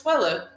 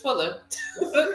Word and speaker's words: Twilla: twilla and i'm like yes it's twilla but everybody says twilight wait say you gotta